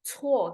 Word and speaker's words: 错: 错 karena pakai c, jadi bacanya ada angin ya teman-teman ya.